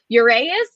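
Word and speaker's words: Urías: is antonio cenzatella for the rockies and julio your a is is that how you say it yes uh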